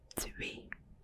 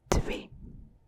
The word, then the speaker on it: twee: So number 2 is twee, twee, twee.